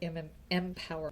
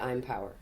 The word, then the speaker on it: Impower: And you could call it I'm Empower or Empower Project. No, it's Either way, it's just I'm Power. Or I'm Power or Empower Yes, Project. it's I'm Power, Empower, pronounced both ways, project.